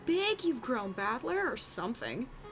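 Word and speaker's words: 戦人: This is made up of the characters for fight and person, and it's pronounced Battler.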